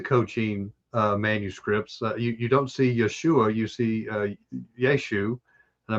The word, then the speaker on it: Yeshu: They would take the ayin and just toss it. They wouldn't pronounce it, just like we have.